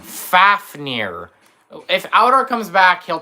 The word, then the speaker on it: Fafnir: No, it's Fafneer. Like Fafner, the dwarf got turned to. Yeah, Fafneer. That's That's how you say his name. Not Vakir. FAF as like F and like four and then near. Fafneir.